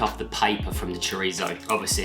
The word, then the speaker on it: chorizo: Correct pronunciation and all, chorizo.